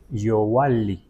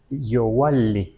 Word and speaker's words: Yohualli: Si se lee Yoali, en realidad se pronuncia Yowali, casi como con W. Yo lo escribiría con así, Yohualli, o sea, Yowali, así se pronuncia, ¿eh?